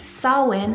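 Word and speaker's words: Samhain: name sawwin spelled s-a-u-w-y-n but in irish sawin is spelled s-a-m-h-a-i-n the direct translation of sawin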